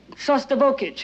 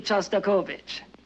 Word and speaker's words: Shostakovich: maybe we'd better be going we're hearing a sauce turbo kit you know that's Shostakovich and since you're a